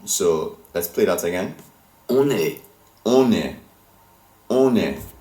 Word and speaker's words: on est: On est. On est. On est. So la liaison is like the two words are fusing together when you pronounce them.